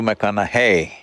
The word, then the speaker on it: McConaughey: try the second name mcconnell hey rhymes with what would madonna say so so i know you're matthew mcconaughey but do i know